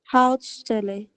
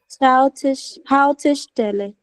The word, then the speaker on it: Haltestelle: Hautstelle. Schau mal, es gibt ein E zwischen Halt und Stelle. Haltestelle. Yeah, the Bushaltestelle. Normally that's the stopping, the bus stop. Okay, Haltestelle is the stop, like where you stop, where buses stop.